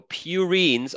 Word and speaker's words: purine: pure as gold so purines are antonine and guani everything else is pyrimidy also purine has two syllables right so purine two syllables two syllables two rings that's how I remember